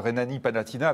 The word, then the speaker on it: Rhénanie-Palatinat: Juste à côté, donc vous avez la Rhénanie-Palatinat. Bon, je les prononce à la française, hein, c'est comme ça que nous on les appelle en France.